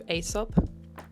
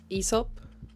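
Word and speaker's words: Aesop: Shabuya, we popped into Asop. ESOP. I always say it wrong. It's Esop, which is an Australian skin care all kinds of things brand.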